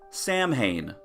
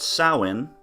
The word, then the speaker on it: Samhain: Loomis pronounces it Samhain let's listen as dr. Loomis educates all of us it's a Celtic Wood Samhain actually it's pronounced soin but go on it